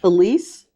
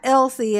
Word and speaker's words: Elise: Elise, I think. LC. I think you pronounced that LC. That's No, no, it's not Elsie. If it's E L I S E.